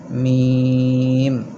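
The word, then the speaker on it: ميم: হরফ দুই টুট থেকে মিম শুরুতে দুই টুট থেকে শুরু হবে এবং শেষেও দুই টুটের সাথেই মিলে যাবে মিম আবার বলেন মিম কয়েকবার বলেন মিম মিম মিমি মিম এখন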